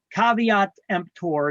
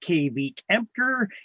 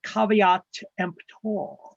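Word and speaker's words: caveat emptor: list later as well it's not pronounced K EMP it's pronounced cavat empor it means let the buyer beware in Latin look at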